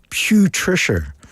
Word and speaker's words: Putricia: Or as fans have nicknamed her, Putricia. Not Patricia. Not Patricia. Putrid, like Putricia. Putricia.